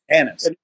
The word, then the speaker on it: Anis: That's spelled an N I s I believe. Yeah. Yeah. Yeah. Anis.